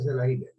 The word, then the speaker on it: Selaginella: Entonces ponemos Selaginella, doble L al final, Selaginella, se pronuncia Selaginella. Como hemos puesto Ecuador, entonces